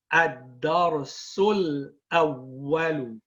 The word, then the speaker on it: الدرس الأول: Combined we say ad-darsul awwalu. And we do not pronounce this hamza here, hamzatul wasl.